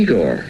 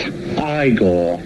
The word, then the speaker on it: Igor: You must be Igor. No, it's pronounced Igor. But they told me it was Igor. Well, they were wrong then, weren't they?